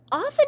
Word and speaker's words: often: often is the t often is sometimes mispronounced the t is silent though right is actually one